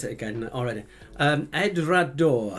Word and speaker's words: Edradour: I've forgotten how to pronounce it again already. Edrador. Edradour.